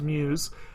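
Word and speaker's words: μ's: microns or ever with apostrophe s but it's pronounced Muse so this is the band's name and they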